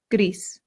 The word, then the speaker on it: gris: This sounds just like the English word grease, like the grease from a pan or like oil, grease. But in Spanish, you have to slightly round that R. So gris. Gris.